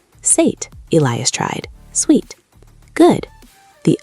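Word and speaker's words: Suid: The ui is that tricky sound again, like A mixed with ow. "Sate," Elias tried.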